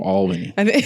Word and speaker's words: Albany: Think about it being ALL. So just imagine if it was another one. Yeah. Appreciate the correction. Yeah, so no problem. Albany.